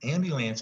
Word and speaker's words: ambulance: And ambulance is here again because of the U. Sometimes that U says you, and you says you say ambulance. Seems like there's a bu in the middle, not just buh.